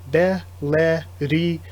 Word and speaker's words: Bellerir: looked it up, and I looked at the actual Korean raws, the characters, and it seems like the characters should be pronounced Be-le-ri, or li or ri, either way. It's, again, L's and R's in both Korean and Japanese seem to just be interchangeable, and then L or R at the end.